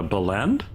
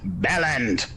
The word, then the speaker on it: bellend: A belend? It's pronounced Bellend.